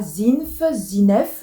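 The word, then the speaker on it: Zin2f: Alors moi je pense que ça se prononce comme ça, Zinef je pense. Donc Z-I-N-2-F.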